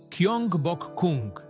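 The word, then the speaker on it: 경복궁: Nazwę pałacu wymawia się po polsku jako Gyeongbokgung.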